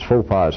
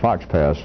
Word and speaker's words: faux pas: I promised somebody it was going to be more fun instead of me continuing to mispronounce faux pas as fox pass periodically as the great